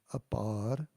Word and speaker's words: Apar: And then Apar, so there's a long A sound too, Apar.